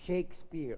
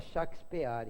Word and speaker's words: Shakespeare: mas no num país a gente pronuncia as palavras estrangeiras procurando falar do jeito que os estrangeiros falam é Shakespeare é Shakespeare para não faz sexo gravar ninguém fala shakspeare é só tem que falava shakspeare o Rui Barbosa em